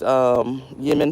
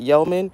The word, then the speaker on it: yeoman: Oh, but I just read about these Yemen fathers. How do you say that? Yeoman.